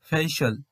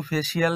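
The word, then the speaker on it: facial: এবার উদাহরণ হিসেবে দেখো ফেইশাল ফেইশাল, এটা কিন্তু ফেসিয়াল নয়, শিয়াল বলবো না, এটাকে বলবো সল।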